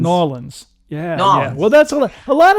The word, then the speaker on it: New Orleans: it's not louisville okay it's not new orleans it's new orleans new orleans yeah well that's a